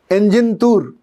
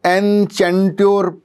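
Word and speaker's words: Enchanteur: अच्छा है, ये है एंजिनतूर। अगर आप इसको पढ़ेंगे तो एनचेंट्योर पढ़ा जाएगा, पर जो इसका असल प्रोनाउंसिएशन है वो एंजिनतूर है।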